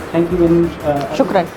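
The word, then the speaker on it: شكرا: How do you say thank you in Shukran. Shukran, that's right, shukran.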